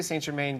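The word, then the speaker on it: St-Germain: s right in here did you say s gerain or S Germain I say St Germain because I'm I have a really bad French pronunciation uh so then we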